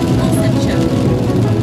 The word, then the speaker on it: Mont Saint Michel: Mont Saint Michel.